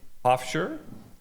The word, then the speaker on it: Pofcher: Uh today we have Hoffshire. Correct. I pronounced your name right.